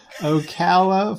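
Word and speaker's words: Ocala: an hour away from me okay oh wait spell it o c a l a oala okay Okala Florida that's the real place okay oh it's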